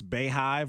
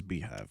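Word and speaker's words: BeyHive: I was thinking, how do you pronounce Bayhive or Beehive? It is Beehive, by the way.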